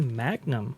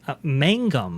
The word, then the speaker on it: Mangum: that uh led by Kathy Magnum uh Mangum I believe is is how you pronounce that sorry I do apologize